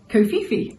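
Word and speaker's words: kōwhaiwhai: has a marry kohi design as a background pronounced kofifi thank you thank you for the I nearly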